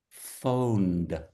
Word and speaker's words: phoned: Phoned. Phoned. Yeah. Very phoned. Yeah. Just a little soft D sound at the end.